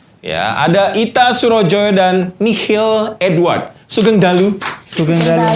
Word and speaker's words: Michiel: Bukan Michael. Bukan Michael. Kadang salah. Michiel. Iya, betul.